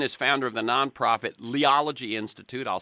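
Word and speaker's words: Liology: Jeremy Lynn is founder of the nonprofit Leology Institute. I'll spell that.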